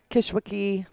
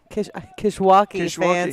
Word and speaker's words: Kishwaukee: uh one of the kishwaki Kishwaukee I always want to say it like Kankakee you say kiss Wiki I know I'm just